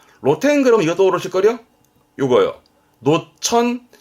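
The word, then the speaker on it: 露店: 그래서 그런 지붕이 없는 가게를 노점 그러는 거죠 발음은 로덴 로텐 로텐 그럼 이것도 오르실걸요 요거요 노천 그렇습니다 노천탕이죠 발음은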